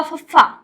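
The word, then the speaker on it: ਫੱਫਾ: ये हुआ फफ्फा, पी H double A, फफ्फा।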